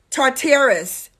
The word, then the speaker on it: Tartarus: Number three, Tartarus, T-A-R. T-A-R-U-S. Sounds like Taurus a little bit.